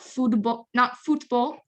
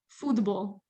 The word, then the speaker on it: футбол: Not football, football. So the the T becomes soft like a D.